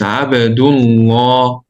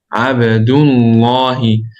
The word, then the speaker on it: عبد الله: So it's عبدullah. عبدullah.